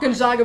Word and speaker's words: Gonzaga: Gonzaga would lose.